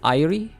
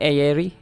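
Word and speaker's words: Airi: Wait, you pronounce this as Irie? Not Aerie? Irie is an A-I-R-I.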